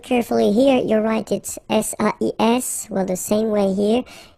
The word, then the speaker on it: sais: Okay, so if you look carefully here, you write it S-A-I-S, well, the same way here. Here you write it S-A-I-T, okay, but then phonetically these three forms are the same, and it's c'est, okay?